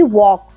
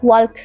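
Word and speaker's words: walk: words है जैसे कि वॉक वॉक मींस होता है चलना बट इसे सम टाइम्स वर्क कह देते हैं क्योंकि इसमें एल है सामने वाले को एल साइलेंट होता है इसका आईडिया नहीं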